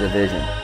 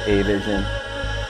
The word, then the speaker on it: Avision: all right so the correct way to say my name is a vision a lot of people say a vision or i've heard avigilon division that's it very simple yeah